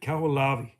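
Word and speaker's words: Kahoʻolawe: Cahoo Lave. Cahoo. So, you pronounce it Cahoo Lavi.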